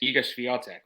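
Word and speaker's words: Iga Świątek: she actually fared quite well but just it's egos vial Tech man you go ahead because I have a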